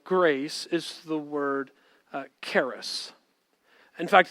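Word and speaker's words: χάρις: is the word uh charis in fact you pronounce it not with the k it's the k is silent and so it's haris in fact i would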